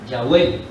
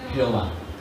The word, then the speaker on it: Yahvé: Por eso yo coloco allí, quizá pronunciado Yahvé o Yahweh, como pronuncian algunas personas, que en castellano para nosotros es Jehová.